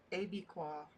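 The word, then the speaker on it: Abiquiú: A is in apple, bi is in big, and qua pronounced like the letter Q. Q. So Abiqua.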